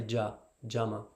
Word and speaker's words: Yama: In the Bengali, the Y at the start, they'll say Jama.